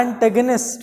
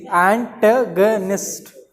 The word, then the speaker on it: antagonist: ANTAGONIST, एंटेगनिस्ट। अरे यार अंग्रेजी में भी बेड़ा करके। एंटेगोनिस्ट, एंटेगोनिस्ट भी बोलते हैं लेकिन प्रोनाउंसिएशन इसका एंटेगनिस्ट होना चाहिए। ये है एन, एंटेगनिस्ट।